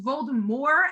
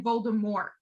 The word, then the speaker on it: Voldemort: dale started off pronouncing dropping the t like the french pronunciation and then and then